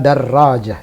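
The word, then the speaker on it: درجة: tidak renang memang begitu standar pembacaannya darojah pakai tasdid jadi tidak benar kalau ada Rodja Hai yang benar adalah darojah dan dan tertulis disitu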